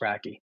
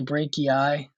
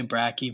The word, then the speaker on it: brachii: upward motion so it's not just the biceps brachi uh before I go on here I I did look it up and I guess I was pronouncing it wrong it's actually brachii um I guess some people say bracky but